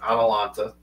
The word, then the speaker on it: Atalanta: It's Atalanta. That's how you say it.